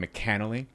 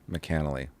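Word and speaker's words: McAnally: I I have to pause the podcast here to say that I believe I've been mispronouncing one of the writers names and he's pissed. I'm very very upset with myself. It's Shane McCannelly. McCannley, Mr.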